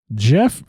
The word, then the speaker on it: Gef: get too much further Jeff spelled with a g g e f yes but anyway you